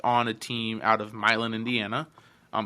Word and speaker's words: Milan: So the movie is based on a team out of Milin, Indiana. Um it's spelled as Milan, like Italy, but Milin is how we pronounce it.